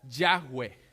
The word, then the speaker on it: Yahweh: y lo llevaron a YHWH con la A y la E intercalada y se pronuncia Yahweh.